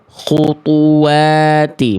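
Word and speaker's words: خُطُوَاتِ: Khutu, khutu, khutuwati, khutuwati. Karena huruf to-nya keluar nafas, ada anginnya, ada udaranya. Harusnya dibacanya gimana? Nggak boleh keluar angin. Khutu, khutuwati, bukan khutu.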